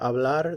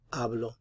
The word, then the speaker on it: hablar: say i speak hablo remember hablar the h is silent yo hablo yo hablo how would you say